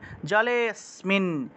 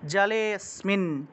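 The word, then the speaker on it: জলেঽস্মিন: জলে অসমিন জলে অস্মিন অনেকে জলে অসমিন জলে অসমিন এরকম উচ্চারণ করে আলাদা আলাদা অটা পূর্ণরূপে উচ্চারণ করা যাবে না এটা তো লুপ্ত এটা হলো লুপ্ত এটা কিন্তু পূর্ণ অ নয় এটা কিন্তু অ নয় এটা কিন্তু লুপ্ত তাহলে জালে জালেসমিন জালেসমিন একসাথে বোঝা গেল আচ্ছা তারপরে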